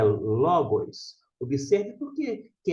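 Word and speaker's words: λόγος: acento aqui na verdade todo o acento na língua grega serve só tão somente para indicar a sílaba tônica por isso a palavra é Logos aqui que está sendo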